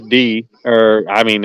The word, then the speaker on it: Die: think about he says d or i mean it's pronoun i mean it's spelled die but he says d the answer but uh